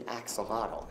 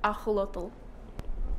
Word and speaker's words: axolotl: Fitz is an axolotl. That's not how you say it. Sorry, what? That's not how you say it. Axolotl? It's pronounced Axolotl. It's Nahuatl, that's the Aztec language for water monster.